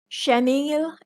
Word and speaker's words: chenille: Chenille and chenille. Almost the same pronunciation, it's just a type of fabric.